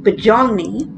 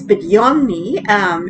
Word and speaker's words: Budyonny: So it almost sounds like Budyonny, but it's Budyonny, and it is the Russian cruiser at Tier 6.